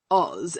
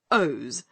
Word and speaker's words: Oz: own country he sneered it is not oz as you say it but ohs the zone of os to